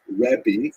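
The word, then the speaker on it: רבי: the the term used in late Antiquity was rebi that's the actual pronunciation which means my greatness my uh largess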